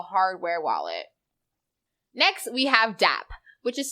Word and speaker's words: DApp: Next, we have DApp, which is spelled D-A-P-P, not D-A-B-B.